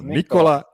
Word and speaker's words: Nikola: i'm the only person on this show that pronounces his name correctly you can say it you can say it yeah so nicola yeah that's very important to me okay let's